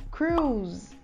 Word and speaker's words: cruise: A próxima palavra é cruzeiro, e a gente fala cruise, cruise. Cruise com o Z mudo, porque ela termina com E, a gente usa um som de Z no final, apesar de ela ser escrita com S, e um exemplo de uso da palavra cruise.